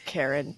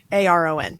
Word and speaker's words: Charon: They say his name like Karen in the audiobook, but it sounds like... I think it is Karen, but it's Charon. It sounds like Karen. Like it just like manager Karen.